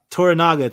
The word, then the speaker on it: Toranaga: Toranaga, thank you.